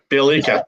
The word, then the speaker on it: Bjelica: Somebody Bielika. I said it right that time.